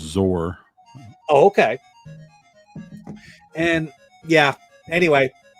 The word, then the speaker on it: XOR: programming thing where xor it's pronounced zor oh okay and yeah